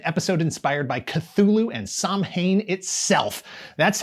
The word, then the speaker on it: Samhain: Demons, vampires, werewolves, an episode inspired by Cthulhu and Samhain itself. That's how it's pronounced in the show. Save your Samhain and Samhain takes for your Halloween parties.